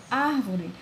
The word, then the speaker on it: árvore: A palavra árvore é dividida em 3 sílabas. Árvore. Quando eu falo árvore, vocês podem perceber que existe um potencial vocal, uma tonalidade maior no ar.